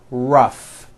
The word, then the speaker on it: rough: and the last word rough notice the GH combination in that word rough let's work on this